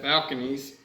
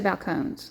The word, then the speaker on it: Balcones: And then second up, we got Balconies. And I'm not even sure if I'm pronouncing that right. That's how it looks like it's spelled. Balcone, maybe Balcone. Balcones, that's what I would say.